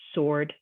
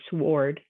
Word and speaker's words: sword: wrist wrote wrench answer sword you don't say the w we don't say we're wrestle or worrist or will wrote or war wrench or ants were or sword that w is silent with silent letter g